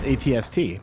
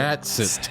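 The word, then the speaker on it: AT-ST: It's an ATST because you can't pronounce An the AT-SIT. At An That's how an acronyms- AT-SIT. If you can pronounce the word in an acronym, you pronounce it.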